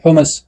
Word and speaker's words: حمس: د حماسې لغوي معنا چې دا په حماسه عربي کلمه ده، حمس په ډول تلفظ کېږي، معنا یې شدت او سختوالی ښودل شوې ده.